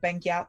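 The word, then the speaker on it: Benguiat: about the typography ITC band gap is actually Banqiao talk to pronounce it correctly is the last name of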